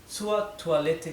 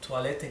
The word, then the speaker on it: Toilette: Entonces esta OI se lee como en francés, toi, ¿bien?